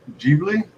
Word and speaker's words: Ghibli: I think it's pronounced Ghibli, Studio Ghibli.